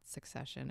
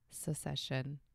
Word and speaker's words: secession: the show succession but it's not succession it's secession and i learned too